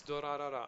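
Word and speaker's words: Durarara!!: Ah, it's Dorarara. I mispronounced it. Okay. Yeah, Dorarara. Tell me.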